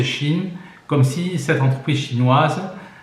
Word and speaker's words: Shein: Alors ça c'est intéressant parce que Shein s'écrit Shine qui en allemand veut dire apparence, mais ça se prononce Shein comme si cette entreprise chinoise prenait référence, c'était la référence de la Chine en quelque sorte.